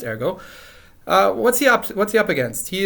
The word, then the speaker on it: Ergot: Alright, I really hope I haven't mispronounced his name. And it's actually pronounced Ergot.